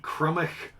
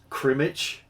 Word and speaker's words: Crymych: into week one on how you pronounce my team name this is the crummy colossals i'll i'll i'll i'll restress that the crumbish colossals um crematch comes up uh quite frequently um it's it's it's not cremated it's crummy chroma